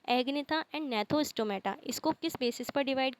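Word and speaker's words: Gnathostomata: एग्नेथा एंड नेथोस्टोमेटा। इसके अंदर जी silent होता है। एग्नेथा एंड नेथोस्टोमेटा।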